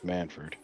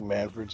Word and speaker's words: Manfred: I'd be like, "Hey, uh son, your name's Manford. You don't think Manfred's a good name?